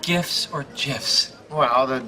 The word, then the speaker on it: GIF: Those little animated pictures on the internet, are they called GIFs or GIFs? Well, the G stands for graphics. That's a hard G, so I say GIF.